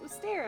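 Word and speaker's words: Mystère: Mystere, yeah.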